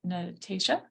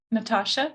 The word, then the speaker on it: Natasha: you say your name is it Natasa Career Technical Ed Natasha thank you for correcting me yay Career Technical Ed